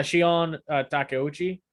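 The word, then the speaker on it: Shion Takeuchi: forgot her name Shian um uh Teochi I don't know how to pronounce her last name uh yeah Shion Takuchi I think that's how that's the correct pronunciation yeah yeah okay so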